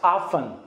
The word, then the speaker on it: often: often نخونید. how often تی تلفظ نمیشه. we do not pronounce t here. okay we pronounce often.